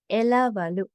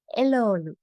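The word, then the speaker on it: එළවළු: The word for vegetables is elavalu. Elavalu, but we often say elolu.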